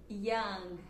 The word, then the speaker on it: young: Porque a gente não pode falar young, por exemplo, que é algo que também seria por conta da influência da nossa língua materna, tá? Então, traga a sua consciência que não, a gente não coloca essa vogal no final, essa sílaba que não existe, a gente fala young, e sim young. Tem que terminar com esse som da consoante mesmo, ok?